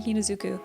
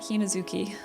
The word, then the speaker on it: Hinazuki: I keep saying her name wrong. I have been, haven't I? I've been saying Hinazuku. I think I meant Hinazuki.